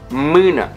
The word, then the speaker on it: mână: The most difficult vowels for foreigners to pronounce are a and ü, ü din i or ü din a. For example, lanternă, lanternă, flashlight. Început, început, beginning. Or mână, mână, hand.